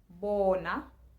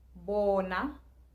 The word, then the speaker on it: Bona: A is still being pronounced the same way as it always will be, and O is being pronounced O as it always will be.